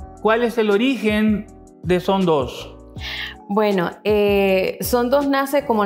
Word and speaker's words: Sondós: Vamos a conversar con las hermanas Hernández, Celina y Marta, de la empresa Son Dos, con acento en la O, tal cual me lo dijeron.